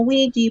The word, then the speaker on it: Ouija: be like the top typed-in thing yeah it's Ouija board but they use the wrong board like